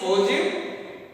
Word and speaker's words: ogive: Here ogive curve, this is the pronunciation is ogive, and this ogive is a shape of S shape, which stands, the vertical ends will be in a vertical shape.